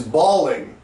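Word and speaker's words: bawling: almost the same is balling balling is the same pronunciation as Ball but it's spelled b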